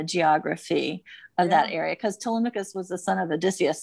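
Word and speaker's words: Télémaque: right i'm always like telemachus what is it how you nailed it how would you say it in french how would you pronounce that uh it was telemach okay good to know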